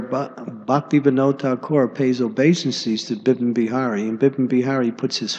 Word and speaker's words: Bipin Bihari: Bipin Bihari, excuse me. Sometimes you say Bihari Lal, but it's Bipin Bihari, actually. Yeah, you're right. I mean, there's an incident where Bhaktivinoda Thakur pays obeisances to Bipin Bihari, and Bipin Bihari puts